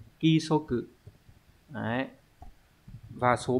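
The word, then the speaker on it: 規則: Cái này phải là ki số cự.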